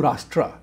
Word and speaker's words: राष्ट्र: हिंदू राष्ट्र, हिंदू राष्ट्र कहना चाहिए, हिंदू राष्ट्र कहना चाहिए, क्योंकि that is where the Sanskrit Hindi pronunciation comes about.